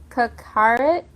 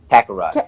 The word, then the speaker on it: Kakarot: Kakarit. Oh, Help me out here. Kakarot.